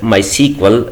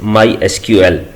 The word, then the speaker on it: MySQL: supported by Oracle Corporation we can call this product as my sequel but the official way to pronounce it is my SQL with the help of